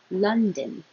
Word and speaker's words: London: I put din and done, just because you might hear it or not hear it at all because it's very short. But either way you want to think of it or pronounce it is fine as long as it's din or done.